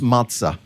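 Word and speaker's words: מצא: The Hebrew word that is translated find you, oddly enough, is pronounced matzah.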